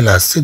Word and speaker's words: lacets: طبعا هاد C ستنطق كاس لأنها أتبعت بدء. هذه من الحالات التي تنطق فيها C كاس. أن تتبع بـ E أو تتبع مثلا بـ E إلى غير ذلك.